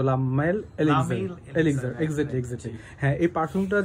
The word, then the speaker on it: Le Male Elixir: যাই হোক আপনার এক্সাক্টলি উচ্চারণটা এটাই হবে কিন্তু লামাইল এলিজার এক্সাক্টলি এক্সাক্টলি হ্যাঁ এই